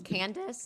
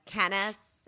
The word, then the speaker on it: Candice: pronounce things correctly like my name is Candice and she says kis and everything is like